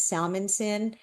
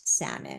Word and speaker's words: Salmansohn: My last name is Salmonson, but everybody mispronounces it and spells it all weird. So my social media presence is not salmon because I'm always going not salmon because they spell it like it's salmon but it's not salmon.